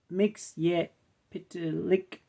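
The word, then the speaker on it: Mxyzptlk: the city of metropolis Mr mixp pronounced mix pck is a magical man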